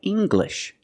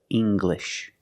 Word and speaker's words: English: the G sound like English make the hard G English or jungle Le tangle and angle these are pronounced with the hard G sound example monkeys live in